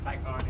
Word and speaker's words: Taycan: So how do you pronounce it? Taycan? Taycan, yeah.